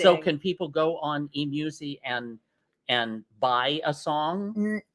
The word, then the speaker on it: eMusic: She showed it to me on her And phone, and it's so eMusic. cute. How do you say that? E-music, yeah.